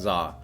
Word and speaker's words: za: if you're curious yes it's pronounced za or at least something close to that it's not do um it's uh yeah